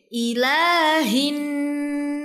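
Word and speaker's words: إِلَٰهِ: Pada ayat ketiga surah An-Nas ada ayat yang berbunyi Ilahin nas. Di sini terdapat huruf lam yang dibaca panjang 2 harokat. Jadi bacanya ilahi.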